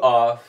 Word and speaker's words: of: Conecte ela com essa palavra aqui e pronuncie o F nessa palavra com som de V.